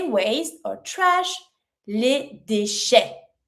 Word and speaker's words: déchets: To say waste or trash, les déchets. Déchets. E T makes the A sound. S is mute.